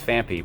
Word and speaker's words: Phanpy: There's absolutely no H. It's Phanpy, but I've been saying Phanpy for 15 years, and that's the way it's going to be.